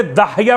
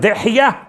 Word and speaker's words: دحیہ: اعتبار سے دحیہ کلبی، لوگ تلفظ میں اشتباہ کرتے داہیہ پڑھ دیتے ہیں، داہیہ کا ترجمہ ذرا سا نامناسب ہے، اصل لفظ دحیہ ابن خلیفہ الکلبی۔ یہ دحیہ کون تھے؟